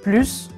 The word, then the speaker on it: plus: prononce de de façon en fait ce mot se prononce plus premièrement quand il est un terme de mathématiques par exemple un plus un